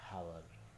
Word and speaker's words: hour: Nah, khusus untuk kata hour ini artinya jam. Ketika teman-teman ingin menyebutkan 1 jam gitu. Nah, maka untuk khusus kata hour ini kita menggunakan kata n. Jadi spellingnya atau pronunciationnya di dalam bahasa Inggris itu an hour.